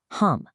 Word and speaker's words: hum: pay special attention to that final syllable hum. The source highlights that this has an absolutely vital role. It has to be projected clearly with a strong deep nasal vibration that allows the